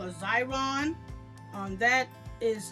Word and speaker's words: Xyron: And it's a Xyron. You can Google it. It starts with an X.